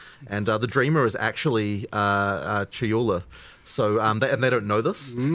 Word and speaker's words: Chayula: So the Acolyte of, and I always get this name wrong, the Acolyte of, is it Chalula? Chayula, I always say this wrong.